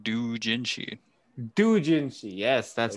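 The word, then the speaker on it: doujinshi: Dojinshi, yes, that's how you say it.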